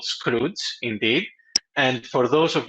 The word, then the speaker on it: Skroutz: have been pronouncing with many different names you pronounce it really correctly it's called scroe indeed and for those of you who have